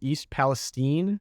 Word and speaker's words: East Palestine: So I was shocked that I did not hear about the East, it was East Palestine is how they pronounce it in Ohio.